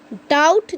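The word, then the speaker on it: doubt: पर भी साइलेंट है बट डाउट जो वर्ड है इसमें डियो यू बीती यहां पर बी कंप्लीट साइलेंट है यहां पर भी बिल्कुल भी का साउंड थोड़ा सा भी नहीं निकलेगा आपके साइलेंट एंड बहुत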